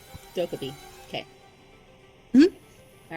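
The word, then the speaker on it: Dokkaebi: How do you pronounce her name again? Dokubi. Dokubi.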